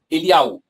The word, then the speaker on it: Elial: Elial, não Eliahu, Elial.